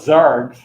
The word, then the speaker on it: xargs: XArgs. One of my favorite command line utilities. XRs. Anything else? You see SARS. You could call it Zargs.